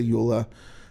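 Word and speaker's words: EULA: ULA or Wha? I I've heard it pronounced both ways. I say ULA.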